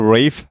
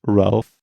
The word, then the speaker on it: Ralph: look at us uh yeah it's with a rave finds he played baltimore than many other iconic